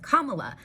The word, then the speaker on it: Kamala: But her name is a popular name in India, where Hindi speakers pronounce it differently than she pronounces it. That's okay. She is a first language English speaker from California. Her whole life, she's said her name Kamala. This is fine.